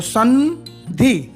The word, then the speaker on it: संधि: उसी प्रकार संधि, अंतिम अक्षर ध है और वो ध त वर्ग में आता है। तो त वर्ग का अंतिम पंचम अक्षर कौन सा है? न। तो संधि न का उच्चारण होगा।